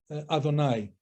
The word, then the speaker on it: Adonai: I am written as Yehovah, but pronounced as Adonai.